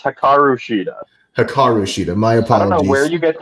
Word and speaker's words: Hikaru Shida: battling and hopefully get heroku shita who made the save to help deakanti and you always say her name wrong pl please please please kyle told me to yell at you that's hakaru shida hikarushita myopathy where you